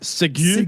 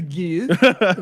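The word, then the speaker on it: segue: Also, Segway is spelled with a G-U-E, not like the I believe thing it's you pronounced ride. Sigu. Sigu. Here we go. Let's Sigu to this.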